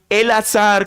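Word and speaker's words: אלעזר: En hebreo, Elazar, que es lo que, como se pronuncia en hebreo, significa Dios ha socorrido.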